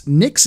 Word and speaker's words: Nyx: it came back so what's nix nyx is the next system after pyro and it's spelled nyx um it's a another